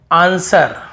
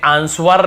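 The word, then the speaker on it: answer: जैसे आंसर, हमें आंसवर नहीं पढ़ते, वर नहीं पढ़ते, आंसर, बस आंसर, जवाब।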